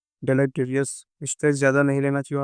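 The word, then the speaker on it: deleterious: अह 17वा है वह उसका प्रोनाउंसिएशन उत्तर होता डेटरियस इसका मतलब होता है खतरनाक हानिकार है।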